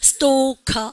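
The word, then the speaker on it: stalker: 발음하니까 stalk. 이렇게 능동적으로 하고 댕기나? 야, 그러니까 무서운합니다. 스토커.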